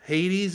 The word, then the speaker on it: Hades: And the correct pronunciation is Hades.